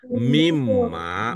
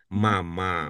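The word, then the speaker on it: مِمَّا: Karena dia mau naik maka dibaca mimma bukan mama bukan ya mimma bukan mamma di kata yang tadi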